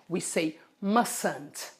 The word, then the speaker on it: mustn't: We don't pronounce this T. We say mustn't. Repeat, mustn't. You mustn't. We mustn't. Repeat, we mustn't take long showers. Good. You see? Mustn't. Many people say mustn't.